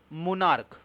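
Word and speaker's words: monarch: শব্দের ক্ষেত্রে যেমন কি মোনার্ক ওকে সি এইচ টা কে এর মত উচ্চারণ হচ্ছে প্লুরাল করার জন্য শুধু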